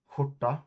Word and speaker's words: skjorta: I mean, this, for example, skjorta, right? Skjorta is how you pronounce shirt in Swedish. Skjorta, SKJORTA.